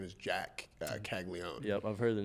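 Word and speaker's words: Caglianone: her name is Jack kagon yep I've heard the name it's spelled kagoni yeah but we all know it's not how you say it what was your first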